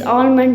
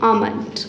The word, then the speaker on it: almond: all eat this is almond that that is L is silent that b said almond okay and this eat